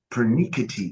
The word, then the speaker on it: pernickety: And this is a long E, pernickety.